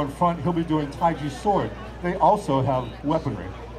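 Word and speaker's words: 太极: into the taiji forums most people would say Tai Chi but it's actually pronounced taiji like j i and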